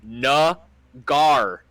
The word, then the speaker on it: Naggar: All right, the kicker the New York Jets had recently signed had to tweet out that his last name is pronounced Nagar.